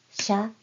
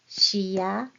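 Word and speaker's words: しゃ: So the glide represents a single syllable. So this is sha, shu, sho. Not shiya, shiyu, shiyo. One syllable.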